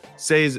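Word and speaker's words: Sei: this episode is brought to you by SE say's V2 upgrade introduces the first high performance parallelized evm already live on public devet maet comes later in Q2 you can follow along with the say Journey on X say Network say is spelled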